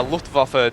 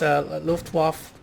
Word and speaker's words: Luftwaffe: because Whenever there's a W, whenever you see a W, just Okay. make sure you pronounce it as a V.